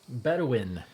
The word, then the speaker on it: Bedouin: It's not Bowden. It's almost like Bowden. Bedouin.